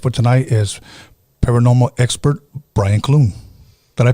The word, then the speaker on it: Brian Clune: uh my guest for tonight is paranormal expert brian cloone did i pronounce that right you did oh yes um